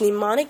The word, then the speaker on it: mnemonic: treat for example use mnemonic devices to make memorization easier demonics the initial M is silent are clues up any